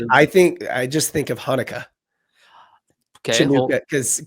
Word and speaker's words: Hanukkah: I just think of Hanukkah. Okay, well, Chinooka, because it's when I first saw the word Hanukkah spelled with a CH, I was like, Chinooka, what is yeah.